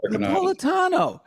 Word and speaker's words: Napolitano: Napolitano. Napolitano. Nap Nap Napolitano. Napolitano. Say it again. Napolitano. It's the Americanized Napolitano.